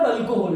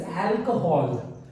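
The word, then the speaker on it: alcohol: इट इज नॉट अल्कोहल, इट इज अल्कोहल, ठीक है।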